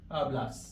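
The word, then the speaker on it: hablas: तो उसमें बचेगा टू आलास। अब आप ध्यान रखना कि एच हमेशा साइलेंट होता है प्रोनंसिएशन में। तो इसकी प्रोसिएशन आलास होगी।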